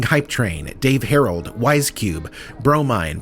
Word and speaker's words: Bromine: Steam Vision, conductor of the interdimensional time-spanning hype train, Dave Harold, Wisecube, Bromine, pronounced Bro, Mine, Main Humdinger, Mother of Pearl, Fiona